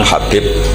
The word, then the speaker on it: Habib: yang nulis Abi Abdurrahman Habib asulam itu di harokatnya kitab itu ada yang nulis hub yang benar ohih yang benar itu bacanya habib habib itu asulami itu ikut